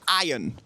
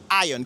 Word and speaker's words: iron: Donc la prononciation ici, c'est iron. OK? Le R est muet. Donc ça donne iron.